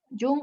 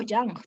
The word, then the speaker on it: Jung: Ahí está Jung o Yang, también se pronuncia de esa manera.